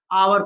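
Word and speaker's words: hour: इस तरीके से आपको दे रखा है एन एनसीसी बॉय, N Xmas tree, N एमए, एन आवर, इसको बच्चों हावर नहीं पढ़ते, इसको आवर पढ़ते हैं, आवर मतलब घंटा, 1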